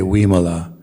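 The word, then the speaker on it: Vimala: sort of problematic pronunciation a v is a sound somewhere between v as in vain and w as in wayne so i'm sure a lot of you know uh ayo imola right so you can pronounce it as in uh even though her name starts with the v you should say we mala um and uh the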